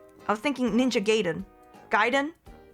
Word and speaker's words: Gaiden: Gaiden? It's Gaiden, not. It doesn't rhyme with Raiden.